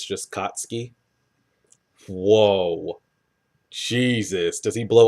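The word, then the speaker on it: Katsuki: kutsuki Baca go oh it's pronounced like Sasuke you don't pronounce the U it's just kotsky whoa Jesus does he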